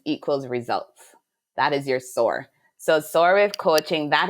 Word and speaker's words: SOAR: But can you tell us about SOAR with coaching? SOAR. Yep, you got it right. SOAR coaching. So SOAR stands for solutions plus actions equals results. That is your SOAR.